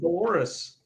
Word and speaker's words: Dolores: Yeah, Dolores. Yeah. We couldn't remember it rhymes with the human body part.